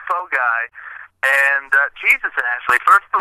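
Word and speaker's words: phở gà: it it sounds fun you would think four guys is fun but no it's pronounced fog guy and Jesus actually first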